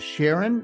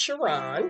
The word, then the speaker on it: Sherron: FSR Sark fighter podcast joining me now is Sharon um is pronounced shiron oh shiron I am so sorry it's okay